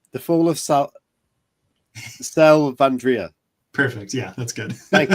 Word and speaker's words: Selvandrea: talk about and I I'm going to probably pronounce this slightly wrong the fall of sal sal vandria perfect yeah that's good thank you um could